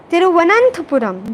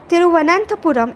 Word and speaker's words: Thiruvananthapuram: The innovation is the result of a collaborative effort between the Center for Development of Advanced Computing, Thiruvananthapuram. This is a complex word. People often pronounce it wrong. Thiruvananthapuram and Visvesvaraya National Institute of Technology, VNIT, Nagpur.